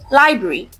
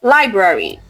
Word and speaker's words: library: Now, many people say library. No, the correct word is library. There are two R sound.